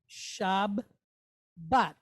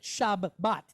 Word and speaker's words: Shabbat: Shab, bat. But we don't pronounce it shab, bat, do we? No, we don't. We just say Shabbat.